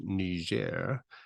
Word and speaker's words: Niger: And so now that we have to talk about the people who live in Niger, we're going to use the French pronunciation, Niger.